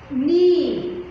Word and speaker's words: knee: Knee, K-N-E-E, knee. Here the letter K is silent, should not be pronounced.